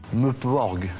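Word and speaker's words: MMORPG: Meuporg, ça s'écrit MMMPORPG. Ah oui.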